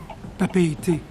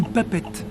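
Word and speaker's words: Papeete: Papéité, ou papette, comme le prononcent les vieux coloniaux.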